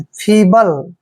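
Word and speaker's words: feeble: Next word देखिए F double E बी एल ई। एफ का उच्चारण क्या करेंगे, फे, डबल ई को हम बड़ी की मात्रा पढ़ते हैं, बी को बै पढ़ते हैं, और एल ई को ले पढ़ना है, फीबल।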